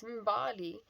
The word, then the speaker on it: Mbali: And for the kid that I was doing it for, her name's Mbali. It's funny that rhymes with Dali.